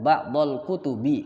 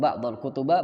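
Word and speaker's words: بعض الكتبِ: Lihat, ba'dal kutubi, kasrah kan? Bukan ba'dal kutuba, ba'dal kutubu.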